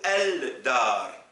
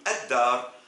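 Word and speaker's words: الدار: je mets l'article el, est-ce que je dois dire ad-dar ou el-dar? C'est évident et vous le savez qu'on dit ad-dar.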